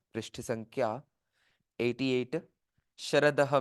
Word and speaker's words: शरदः: हैं पृष्ठ संख्या 88 शरदः में श जो है वो तालव्य सकार है तालव्य तालव्य सकार कहते हैं षटकोण कहते हैं हिंदी में संस्कृत में तालव्य सकार कहते हैं तो इसका उच्चारण दांतों से थोड़ा सा पीछे जी जिवा को लगा कर के उच्चारण करते हैं श ऐसे और सकार दंत्य सकार